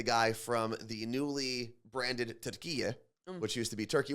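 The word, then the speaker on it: Türkiye: were from Turkey uh Tura is how they would actually pronounce their home country so now all turkey is doing in their new Rebrand where they're asking to be called Tura in like an American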